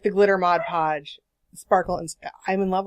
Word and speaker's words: Mod Podge: to say this earlier it is pronounced Mod Podge Mod Podge not modge podge but people get it straight it's Mod Podge read the jar right